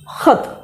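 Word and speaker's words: ख़त: जैसे कि हम यहाँ लिखते हैं खत, इसका उच्चारण करेंगे तो ख नहीं होगा, इसका उच्चारण ख, खत है ना, या गम।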